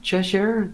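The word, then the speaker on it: Cessair: in this context so there's Chet Cheshire that's how you pronounce that Cheshire the granddaughter of Noah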